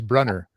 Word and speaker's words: Brunner: Oh, John Bruner coming up on the speculative reader. That That sounds fantastic. Oh, that's the German pronunciation. I think he's English, so I think I think it's Brunner.